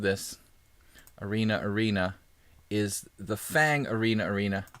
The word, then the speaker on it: Fang: arena arena is the Fang arena arena Phong if you're if you're really trying to pronounce it correctly I guess in Chinese it's like Fong but I'm calling it Fang because Fang sounds cooler so it's the Fang